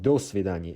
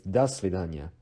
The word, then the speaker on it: до свидания: itself as a phrase, the O still de-stresses as A. So it is not до свидания, it's до свидания, до свидания. But if you just pick do by itself, it is pronounced as do.